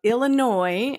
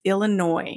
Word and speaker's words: Illinois: in the state of Illinois and a lot of people mispronounce this there is an s on the end of that state name but we do not pronounce it it is Illinois not Illinois right and